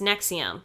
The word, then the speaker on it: NXIVM: name in Ex IBM pronounced nexium like the medication oh yeah there's medication